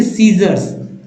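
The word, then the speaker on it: scissors: science science science तीसरा देखि muscles muscles फ सीजर्स सीजर्स य पर सीजर्स लिखेंगे ठीक है सी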